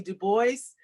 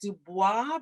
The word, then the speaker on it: Du Bois: Du Bois. His name looks like Dubois, but he writes that it's pronounced Du Bois.